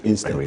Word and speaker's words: INSTEP: INSTEP. The R is silent.